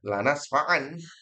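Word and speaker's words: لنسفعا: Tulisannya diganti tanwin. Bacanya sama, lanasfa'an.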